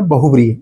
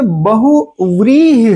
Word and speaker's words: बहुव्रीहि: तो इसका एक तो उच्चारण हमसे गलत हो जाता है, इसीलिए लिखने में गलती हो जाती है। असल में ये बहुव्रीहि है। व बाद वाला व होता है, पहले वाला ब होता है, और उस व में